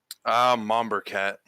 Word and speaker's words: Monberquet: Monberquet, is that correct? Mombercat. Mombercat. Okay, I'll keep that.